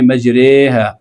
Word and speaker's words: مجریہا: یہ صرف ایک جگہ آیا ہے، بسم اللہ مجریہا، تو آپ اس کا صحیح تلفظ آج جان لیجیے، اس کو موٹا بھی